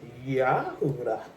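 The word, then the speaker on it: Yehudah: I'm of the royal tribe of Judah, properly pronounced Yahudah. I'm daughter of Zion from Israel.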